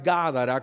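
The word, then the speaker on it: Gádara: este que se pronuncia ganará con acento en la primera y entonces dice la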